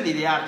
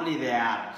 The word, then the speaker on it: lidiar: Se dice lidiar, chicos, lidiar, no lidear. Según están entendiendo mal mi pronunciación, pero es lidiar.